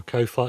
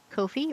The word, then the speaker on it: Ko-fi: sent me $5 on Kofi or Coffee or I need to decide how that's pronounced. Except I'm pretty sure whatever I decide it'll be wrong. I reckon it's Ko-Fi, like sci-fi.